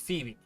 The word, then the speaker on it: Phoebe: phobia Phoebe foby fat I don't know how to pronounce it I'm gonna look it up now Phoebe it's Phoebe so Phoebe right so